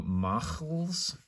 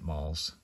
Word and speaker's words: Mals: But in this case, it's really, it's actually, the pronunciation is supposed to be ch, ach, that sort of thing. So machls, but it's one syllable. So really, you're just better off probably pronouncing it malls or malls.